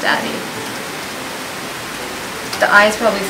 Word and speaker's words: Addyi: Yeah, Luke looked it up, and I trust his research skills, so it's pronounced Addyi.